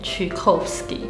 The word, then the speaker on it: Tchaikovsky: 可是呢，其实俄文是怎么发音呢？俄文其实去听俄国人他们念会念 Tchaikovsky，所以其实应该是齐寇夫斯基会比较